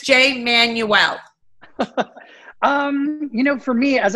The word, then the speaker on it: Jay Manuel: I want to say it correctly, not Manuel. Everybody, it's Jay Manuel.